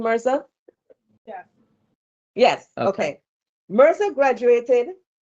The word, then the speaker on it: Mirza: Is that the correct pronunciation of the last name, Mirza?